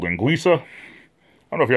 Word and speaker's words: linguiça: And this linguiça, it's spelled like Linguica, like linguica, but the C is silent. Not silent, it's a soft C, it's a linguiça.